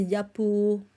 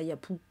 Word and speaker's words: Yapou: En fait, c'est Yapo. Ça se prononce normalement. C'est Yapo, pas Yapou, mais bon.